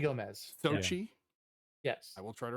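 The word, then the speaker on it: Xochitl: I cannot pronounce her first name. Is it Sochi Gomez. Sochi.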